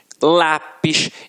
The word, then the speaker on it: lápis: Reparem, cigarro, janela, lápis. Então, realmente, a sílaba que a gente proferiu com mais força sempre esteve na penúltima sílaba.